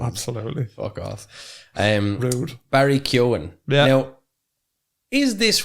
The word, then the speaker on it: Keoghan: He says it like no, he does. He goes, no, it's Keoghan or something. That's what he says. Keoghan. Yeah, he goes Keoghan. He says Keoghan. See, I'm pronounced that gin because everyone in Ireland before Barry Keoghan would have said Keoghan.